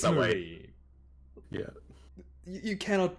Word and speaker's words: Marine: But it's not It's pronounced that way. Marine.